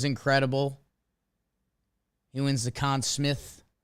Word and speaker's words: Smythe: He wins the Conn Smith. I think it's Smith, but it's spelled like Smythe. Or is it Smythe? Chat, let me know.